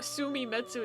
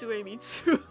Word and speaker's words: Suemitsu: It's not Sumimetsu, it's Suemitsu.